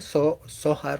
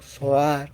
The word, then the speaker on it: Zohar: Miren, el Zohar como tal, el nombre Zohar o Zohar, como lo quieran pronunciar, es esplendor, es el esplendor.